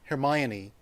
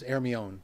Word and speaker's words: Hermione: It is spelled Hermione, but too many people associate that with Harry Potter, and the correct pronunciation is Hermione.